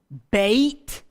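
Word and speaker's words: בית: a very simple one does change the pronunciation to Beit that's our a as in gray sound a or e in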